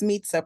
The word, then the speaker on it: Meetza: apologize for mispronouncing your name, Mitza. Oh, no problem. It's Meetza, pronounced like it sounds like pizza. That's how everyone remembers it.